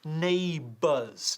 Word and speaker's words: neighbors: Ok, fíjate en la pronunciación, neighbors, no neighbors o neighbors, neighbors, con 2 sílabas, ok.